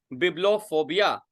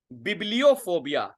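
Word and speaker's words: bibliophobia: हाँ, बिब्लोफोबिया, बिब्लियोफोबिया इसका प्रोनाउंसिएशन होता है, इट्स बिब्लियोफोबिया।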